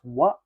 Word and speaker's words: は: N stands for noun, and this particle is pronounced as wa, not ha. Though sa naaral natin sa hiragana, this pronounced as ha.